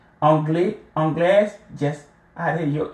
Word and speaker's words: anglaise: Anglaise, add your E and then pronounce the S as if it is a Z sound.